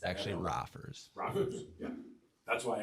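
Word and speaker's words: Roffers: It's actually rafers. Raers. Yeah, that's why I asked you to spell it so people knew where to look.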